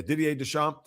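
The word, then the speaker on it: Didier Deschamps: Is that how you pronounce his name? Ddier. Yeah, Dier Desamp.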